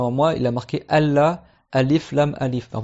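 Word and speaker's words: ألّا: Mais normalement dans le vrai arabe littéraire, quand c'est an la, tu effaces le nun et tu écris Allah parce qu'on fait un idrom, le nun avec le lam, et normalement tu dois le prononcer Allah.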